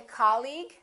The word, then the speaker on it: colleague: The second one, did you say colleague or colleague? He's my colleague? That's right. Once again, it's the first syllable.